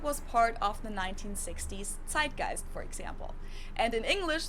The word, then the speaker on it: Zeitgeist: Zeitgeist, yeah.